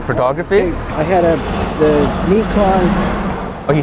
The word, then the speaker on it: Nikon: back into into photography I had a the Nikon oh you say it right too Nikon I'm Japanese Nikon that's the proper pronunciation it was Nikon uh what do you